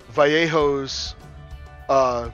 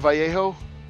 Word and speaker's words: Vallejo: Yeah, I'm the only one who pronounces it Vallejo. I don't know. That's the way I've always said it. I grew up overseas, and I figure since they're a Spanish company, it's probably Spanish pronunciation, but I don't know. I don't know that for a fact. I've just always said Vallejo.